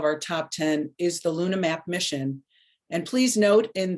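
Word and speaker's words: LunaH-Map: Meg Hufford: number eight of our top 10 is the Luna map mission, and please note in the in the logo, that the H is silent because it's the hydrogen that they're looking for.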